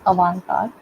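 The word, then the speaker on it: avant-garde: Uh the next term we've often called is another term is a French term. We pronounce it as a card.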